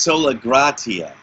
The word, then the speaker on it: Sola Gratia: Am I pronouncing out Well, I'm saying it's Sola Gratia.